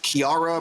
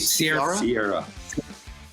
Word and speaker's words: Chiara: say her name right uh chiara bravo is that how you pronounce it sierra sierra i'm very sorry sierra the chemistry between tom